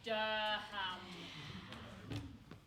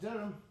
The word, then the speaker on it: Durham: Thomas Drummond of 1 Maureen's Terrace, South Biddick, County Durham. Actually, it's pronounced Durham.